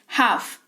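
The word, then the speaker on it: half: रहे हो ठीक है हाफ एच ए एल एफ अ यहां पर है इसकी स्पेलिंग लेकिन एल जो है वो साइलेंट रहता है ड्यू टू साइलेंट लेटर्स का जो रूल होता है उसके हिसाब से कि एफ है करके इसी वजह से साइलेंट हो जाता है साइलेंट लेटर्स वाली क्लास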